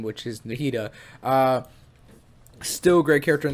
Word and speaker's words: Nahida: wrong but I usually usually call her Nadia I think it's called nahida right nahida is her name right so nahida because you